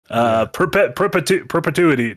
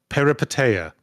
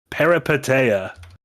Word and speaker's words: Peripeteia: Perpetuity. Nope, I said that wrong. Peripeteia. Peripeteia. I think I called it Perpetupia.